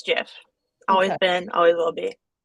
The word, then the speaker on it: GIF: wrap up for real it's Jeff it's canonically a soft soft G yeah the inventor of